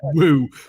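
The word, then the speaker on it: Wu: The fact it says Woo, but it's spelled as W-U.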